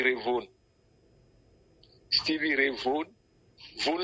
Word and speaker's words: Vaughan: Vaughan, ça s'écrit Vaughan, mais dans leur culture, eux, ils appellent ça Vaughan.